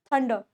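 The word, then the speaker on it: thunder: अ Sunny, heavy, strong, clear, पोर, thick, थंडर। थंडर, थंडर का मतलब होता है बिजली चमकना, थंडर। इसमें र की साउंड गायब होती है, इसका मतलब होता है बिजली।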